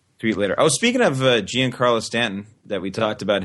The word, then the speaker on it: Giancarlo: Oh, speaking of Giancarlo Stanton, that we talked about him last week.